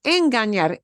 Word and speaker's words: engañar: Quiero hablar un poquito de esto, de engañar. Es buena palabra. Es muy buena palabra. Engañar. Engañar se escribe así. They write it like this. Engañar. La ñ. You got the N with the tilde, right?